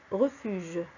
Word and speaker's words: refuge: La lettre G se prononce je, refuge.